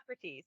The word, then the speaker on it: Hippocrates: Hippocrates, yeah.